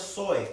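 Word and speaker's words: ζωή: La palabra vida en el griego es zoe, así como suena con Z-O-E, acento en zoe.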